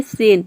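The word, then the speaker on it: scent: या फिर एस और सी दोनों को मिलाकर हम स प्रोनाउंस करते हैं। जैसे कि देखिए यहाँ पे सेंट, सेंट का मतलब होता है इत्र।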